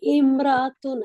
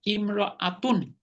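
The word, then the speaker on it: امرأة: উস্তাদ জি, ইমরাতুন আগে তো জানতাম যে ইমরাতুন মানে ইমরানের পরিবার। না না, সেটা আরেক জিনিস, আরেক শব্দ। মহিলা হলো ইমরাআতুন, মহিলা।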